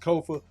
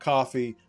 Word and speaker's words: Kofa: I am your humble host, Kofa, K-O-F-A. Not coffee, not kufu, not kofi, or any variation thereof. Kofa rhymes with sofa.